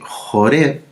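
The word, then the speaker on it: Horeb: su canal monte sinaí o monte jure y ahora porque las biblias en español sale con h r de larga hora pero en el hebreo es porque se escribe con la letra jet sí y aquí el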